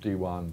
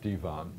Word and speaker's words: divan: the pronunciation you'll recogniz it's not dwan but Divan uh comes from Persian originally Persian pronunciation through the Ottoman Empire